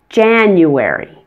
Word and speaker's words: January: a in Amazon and the first day in January most non-native speakers I